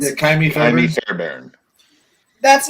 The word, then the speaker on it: Fairbairn: You guys know the Texans kicker, Kaimi Fairburns? Yeah, Kaimi Jaime Fairburns. Fairbairn.